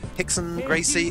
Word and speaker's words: Rickson Gracie: you haven't seen them Hickson Gracie its Rickson Gracie but in Brazil they don't pronounce ours is always H so